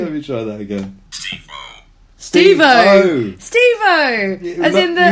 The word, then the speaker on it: Steve-O: Steve-O. As in the, you say his name like he's Devo, but Steve-O from Steve Jack Oz.